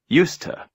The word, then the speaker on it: used to: here no I think we normally pronounce the word used used when it is on its own for example she used the phone but in the expression used to the two words are reduced and we pronounce them together as a single word USTA maybe she's no longer